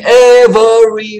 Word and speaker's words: every: Dia lagu itu ada lirik in every blah, in every blah. Kedengarannya agak aneh, terasa salah gitu ya. Karena memang demikian, kata every yang artinya setiap itu tidak dibaca dengan 3 syllable every, tapi hanya 2.